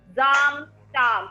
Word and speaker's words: Samstag: In German we say A as A. We have done the letters. So it's Samstag. A को हम A बोलते हैं. तो जहाँ पर भी A लिखा होगा, you have to pronounce it as A.